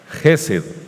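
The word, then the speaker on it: חסד: yahvé proviene de una raíz hebrea que se pronuncia jesed h e s de sopa e d jesed y Que traduce el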